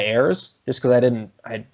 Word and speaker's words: Ayres: on air i think i pronounced his name like aries instead of heirs just because i didn't